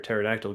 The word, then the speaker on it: pterodactyl: Why can't you hear a pterodactyl going to the bathroom?" A pterodactyl is not a dinosaur. But I do love this joke. But why, Will? Because the P is silent.